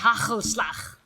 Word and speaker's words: hagelslag: hagelslag. You cannot just say Ooh, I like You gotta that. I like. yeah. Can't do it, but I like it. you gotta just choke slightly when you say it.